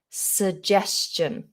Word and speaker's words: suggestion: looking word isn't it so we have a schwa in the position of the first vowel so we don't say su or su it's just a schwa sound is the most common